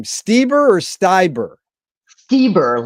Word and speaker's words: Stieber: today's guest tamarrow tomorrow tell me how to pronounce her last name steber or Styer steber like Elanor steber the opera singer but Tamar